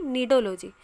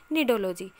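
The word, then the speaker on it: cnidology: neurology and neurology here the spelling is different that is c n i d o l o g y and n i d o l o g y but the pronunciation is same but the correct answer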